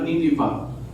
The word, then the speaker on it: Nineveh: From Jerusalem to Nineveh, or ang yun nila, ang insakto na pronunciation na Nineveh.